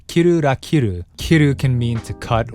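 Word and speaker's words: キルラキル: Finally, the title itself, when pronounced in Japanese, is kiru ra kiru.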